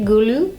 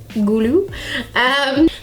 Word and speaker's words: Gulu: That is how you say it, Gulu. Gulu.